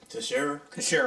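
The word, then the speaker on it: Teixeira: is Jack I'm about to butcher it but it's spelled t-e-i-x-e-i-r-a to share restaurant yeah they believe that he was talking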